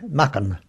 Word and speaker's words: Mucking: Mucking is a place that I've got a very strong loyalty to, and they pronounced it then Mucken.